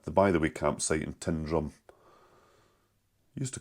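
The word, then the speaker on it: Tyndrum: To me it's like Tin and weir down in England, but it's not. It's Tindrum. It's how you say it.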